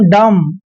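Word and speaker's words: dumb: पढ़ना जैसे नेक्स्ट है डी यू एम बी एम के तुरंत बाद बी आया है तो बी साइलेंट रहेगा इसको पढ़ेंगे हम डम क्या पढ़ेंगे डम क्लियर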